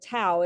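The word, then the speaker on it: tau: kind of protein and they're called TOA it rhymes with wow that build up in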